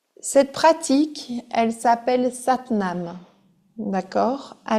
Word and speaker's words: Sat Nam: Vous allez avoir deux syllabes à mentionner. C'est Sat nam. Sat nam.